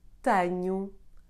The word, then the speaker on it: tenho: You can get it in a tonic syllable when followed by the combination CH, LH, NH, or the letter J. Here are some examples. Fecho, espelho, tenho, vejo. Since I am from this region, I personally say these words this way.